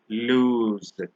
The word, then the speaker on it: lose: S as s but where we write the single o we actually pronounce the S as Z so lose versus lose the one with the